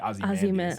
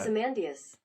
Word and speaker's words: Ozymandias: Because I have always pronounced it Ozymandias. Like I put the emphasis on the M-A-N part. Ozymandias.